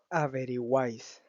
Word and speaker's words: averiguáis: Averiguáis, donde el triptongo surge de la unión de la letra U, la letra A y la letra I, que la letra I y la letra U son vocales cerradas, mientras que la vocal A es una vocal abierta, y por ende la tilde va sobre la vocal A.